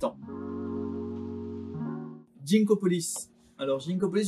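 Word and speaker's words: Ginkgopolis: Alors Ginkopolis, je sais jamais comment le prononcer, est-ce qu'on dit Ginkopolis ou Ginkopolis? Je pars du principe que c'est un jeu qui se passe autour d'un grand ginkgo biloba, donc je vais dire Ginkgo.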